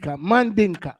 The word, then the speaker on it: Mandinka: I think he said Mandalik.